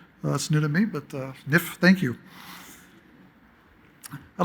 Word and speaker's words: NIHF: I'd like to thank the National Inventors Hall of Fame, which I learned today as a pronunciation, NIF. That's new to me, but NIF, thank you.